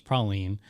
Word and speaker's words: praline: It's but it says here, New Orleans pronunciation is praline, while the nut most commonly used in it is pronounced pecan.